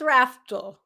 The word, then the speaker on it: Raftl: It's an L on the end. It confuses everybody. It does. So it's Raftl? It's Raftl.